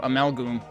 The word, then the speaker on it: Amalgoom: Is Amalgoom pronounced with a long O? That's how I pronounce it, because it's Amalgam plus Doom, so Amalgoom.